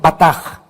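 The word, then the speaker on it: בטח: es la palabra hebrea con b de burro batach se escribe y se pronuncia batah significa sentirte seguro firme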